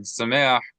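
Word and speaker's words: שמח: Accent on the E.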